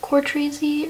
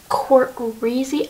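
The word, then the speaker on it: Cortreezy: Oh my god, she literally called out that people were saying it wrong, that it's not Core Treesy or something, that it's Court Reezy.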